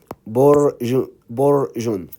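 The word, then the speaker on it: بُرْجٌ: Okay, so that, bu, ra, with sukun, bor. Never try, by the way, never try to pronounce this by itself. It's hard, and no Arabic words starts with sukun. So sukun, to pronounce the sukun, always you need the harf before it. Okay, so bor, see how it's easy right now, bor. Then you add jim, borjun.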